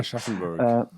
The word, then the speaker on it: Aschaffenburg: 2012 and we'd played in Aschaffenburg, if I pronounce it correctly. Aschaffenburg.